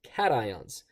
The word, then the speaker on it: cation: You pronounce it cat ions.